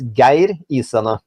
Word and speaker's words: Geir Isene: The correct pronunciation is Geir Isene.